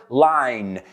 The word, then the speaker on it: line: So, the first word line. It rhymes with let's find another word line, mine.